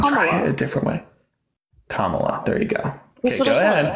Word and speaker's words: Kamala: Do you want to pronounce the name again? This time try it a different way. Kamala.